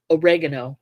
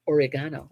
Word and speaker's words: oregano: Oregano or oregano or however you pronounce it. If you're from England, it's oregano. Oregano.